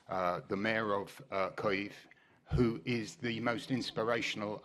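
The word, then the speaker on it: Kyiv: of people struggle with the ukrainian pronunciation of koiv that's not kiev imagine it just rhymes with the end ending of the word rhymes with leave as in putin leave ukraine kaith thank you assembly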